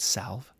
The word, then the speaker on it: salve: Is that how you pronounce that word, salve? Right, a salve.